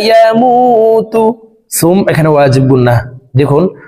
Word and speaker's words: يموت: সুম্মা লা ইয়ামুতু, মু এখানে এক আলিফ টান। পেশের বাম পাশে জজমওয়ালা ওয়াও মদের হরফ, ডান দিকের হরকতকে এক আলিফ টানিয়া পড়িতে হয়।